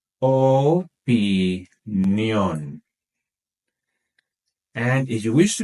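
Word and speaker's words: opinión: after me in meion make sure to stress that last syllable in opinion opion and if you wish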